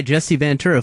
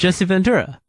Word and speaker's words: Jesse Ventura: government doesn't want you to read signed by Jessie vura former governor and also known as the body now you're from his state right yeah you don't know how to say his name correctly Jesse Ventura the body The Body Ventura oh boy how